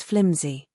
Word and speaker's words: flimsy: Okay, flimsy basically is an adjective and as you see the pronunciation is flimsy. Flimsy. It's not pronounced with an s sound but it's closer to a zed sound.